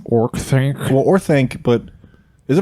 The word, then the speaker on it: Orthanc: Orthanc.